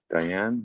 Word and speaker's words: Deanne: Is it Deanne? How's that how you pronounce that? Deanne? Diane, yeah.